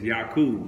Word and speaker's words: Jacob: coming from Jacob : Jacob which can also be pronounced as Jakub right so you know